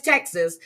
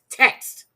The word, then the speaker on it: text: I'm sorry Texas okay she says Texas the word is text singular or plural the word is text not Texas no okay it's pronounced text okay so she um